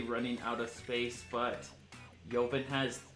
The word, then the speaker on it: Ljovynn: For the record, he has stated that it's Ljovynn, but he doesn't really care if you pronounce it wrong.